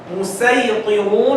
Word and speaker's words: المسيطرون: When the sin is above the Sad, means you pronounce it as sin. Here the sin is under the Sad in this particular word in the Quran. You can read it with sin, you can read it with Sad.